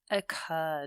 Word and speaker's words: occur: strange sequence of events occur word again that emphasis is on the the second syllable with the R so we double the